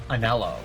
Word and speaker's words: Anhelo: I think his name is Anhelo. The H is silent.